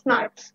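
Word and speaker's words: snRNP: সো এসএনআরএনপি pronounced as স্নার্পস, তোমরা চাইলে একে স্নার্পস বলতে পারো, এসএনআরএনপি ও বলতে পারো, in turn are formed by the association of small nuclear RNA with protein.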